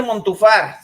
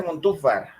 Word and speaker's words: Montúfar: Por otro lado, no se dice Montúfar, se dice Montúfar.